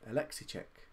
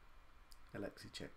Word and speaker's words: Alexicek: How do I pronounce my name? Alexicek. Alexicek is how I pronounce it. It's from the Czech Republic, actually.